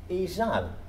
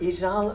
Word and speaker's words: ysall: The word for low in Ordinalia's time, izel, became izal. And here it's rhyming with a stressed word, fal. So this is a real rhyme, izal and fal.